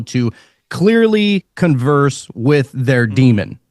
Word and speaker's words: daemon: So you would have a daemon, or it's spelled daemon, but it's pronounced demon. It's Daemon.